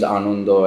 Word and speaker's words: Ananda: I think everyone just the album was put under San, and mainly because my name's Anundo and it's spelled Ananda, and trying to tell people how to pronounce that is a real hassle.